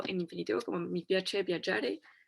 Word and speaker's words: viaggiare: Aquí solo cosita de pronunciación con G y A. Recuerden que se va a pronunciar ya. Entonces, viaggiare.